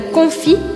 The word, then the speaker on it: confit: Lembrando você que o T, S ou D e S no final das palavras eu não pronuncio. E por isso eu falo confit, confit, e eu não falo confit, tá?